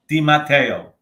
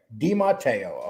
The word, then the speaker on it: DiMatteo: Pronounce your name exactly the way it's pronounced, please. Dimatteo. Dimatteo.